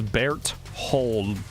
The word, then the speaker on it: Bertholdt: It's Bertholdt, as it's spelled.